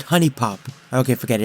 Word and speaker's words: Huniepop: honey popper huniepop because it's very clearly spelled huniepop but everyone I know pronounces it honey pop okay forget it it's